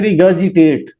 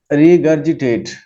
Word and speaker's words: regurgitate: था, regurgitate, हाँ जी, pronunciation होती है रिगर्जिटेट, रिगर्जिटेट।